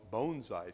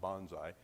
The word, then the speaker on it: bonsai: with the Rocky Mountain Bonsai Society I have to make sure I pronounce it right not Bonsai like I pronounce all my life it's Bonsai like bone-like structure um in the Colorado